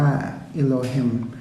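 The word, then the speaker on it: אלוהים: คัมภีร์ เรา จะ อ่าน ใน ภาษา เห็น ปู เรา จะ เห็น ชื่อ ของ พระ เจ้า มัน จะ อ่าน ว่า เอโลฮิม เมื่อ เรา แปล พระ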